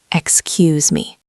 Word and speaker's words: excuse me: The stress is on the second syllable. Excuse me.